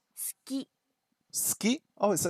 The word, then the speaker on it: 好き: Sometimes the vowels are not pronounced very much at all. 好き。